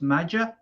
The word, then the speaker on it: Maja: Now it's spelled Maja, but I think it's pronounced Major or Major. I call him Major.